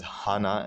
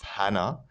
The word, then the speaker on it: Hana: the two children now the reason why i'm pronouncing his wife's name as hana instead of hannah is because it's a japanese name right hana in japanese means flower all right and that's